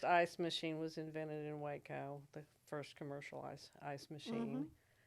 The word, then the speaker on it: Waco: But I think there's a wonderful focus there in the Helen Marie Taylor Museum on the Waco Indians, Right, or Waiko is the correct pronunciation. I've been taught, because these were the first dwellers Exactly.